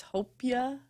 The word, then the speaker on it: hopia: what'd you get uh Albert said I was pronouncing it wrong it's hopia help you I don't